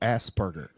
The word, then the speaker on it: Asperger: It's spelled with the P though, Asperger.